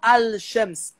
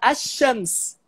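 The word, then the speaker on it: الشمس: Só que o que acontece é que esse l do al, ele assimila com o sh. Então, quando o falante nativo pronuncia essa palavra, ele não fala al-Shams, ele fala ash-Shams.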